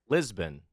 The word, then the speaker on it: Lisbon: How was Libsyn?